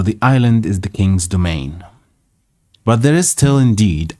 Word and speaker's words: demesne: See how it's pronounced. Demesne. Domain.